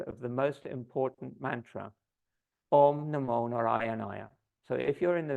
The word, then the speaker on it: Om Namo Narayanaya: Om Namo Narayanaya is an 8-syllable mantra. Om Namo Narayanaya. And when you pronounce that mantra, you should hit all those syllables because they have an impact on the mamas and the chakras in your body.